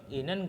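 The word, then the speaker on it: 있는: Ini kenapa dibacanya N? Karena ini kan berakhiran dengan T. Ingat, KTP ketika ketemu sama ketika ada bacim yang berakhiran dengan T bertemu dengan nian yang di sebelah sini, maka bacim T tersebut, bacim yang berakhiran dengan T tersebut akan berubah menjadi nian atau N. Jadi dibacanya jigem inen gosi odiyeyo.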